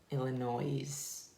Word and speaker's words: Illinois: is front illinois that's how you say it illinois okay do you want me to read it